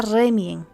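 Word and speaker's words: Remiem: Ce n'était pas Reien, c'était Remien. Oui, oui, c'était le Temple de Remien.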